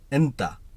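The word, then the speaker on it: أنتَ: তুমি তুমির আরবি হলো ইন্তা আবার কেউ কেউ আন্তা বলে থাকে তবে ইন্তা হলো সঠিক শব্দ আনতা এটা একেবারে আঞ্চলিক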